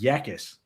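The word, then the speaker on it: Jacas: I think it's pronounced Yakis, which as opposed to as opposed to being jackass.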